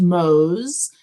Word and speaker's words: Moos: it was originally pronounced mose right in germany for moses oh really interesting yes but here in the u.s just people see m-o-o-s and pronounce it like the animal not a bad animal